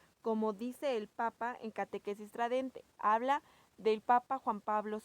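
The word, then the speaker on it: Catechesi Tradendae: El Papa Juan Pablo II en esta exhortación que se llama Catequesis Tradente, se pronuncia con T, pero se escribe con D.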